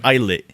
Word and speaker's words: ITZY: Also, they're pronounced ITZY.